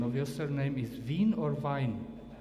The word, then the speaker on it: Vine: something about yourself Thanks hello what's the right pronunciation of your surname is VIN or vine vine okay vine from UK North Fork also